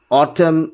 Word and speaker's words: autumn: Rule, the letter N is not pronounced, comes after M at the end of a word.